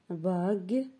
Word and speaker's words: bague: je répète girafe neige bague et page alors je vais parer bague ici dans les trois mots on entend le son j mais ici il s'agit du son g bien 2e série glace